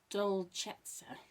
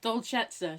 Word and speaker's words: Dolcezza: to say it, but I'm guessing it's Dolcezza. Dolce, D-O-L-C-E, which is Dolce, and then Dolce even, and then 2 Z's and an A, and usually that's like prezzo or prezzo.